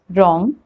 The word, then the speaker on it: wrong: w rule number one w is not pronounced at the beginning of a word when it comes before the letter r like in these examples right wrong ring wrist wrinkle rick